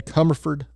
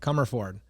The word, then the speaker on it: Commerford: I'm very happy to have Dan Cmerford on the podcast today. Did I pronounce that close enough? Pretty close. Okay. Well, Crford, CRford, sorry, that's what I do.